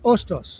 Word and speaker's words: Hostos: The H is silent. Otos.